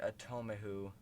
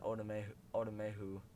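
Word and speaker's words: Otomewo: And I saw his name is pronounced Asezi Atomehu, but I watch a lot of Purple for the Win, and he always says Otomehu.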